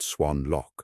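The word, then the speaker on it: Xuân Lộc: Louis's unit was near Xuan Loc, pronounced Swan Loc, about 40 miles east of Saigon.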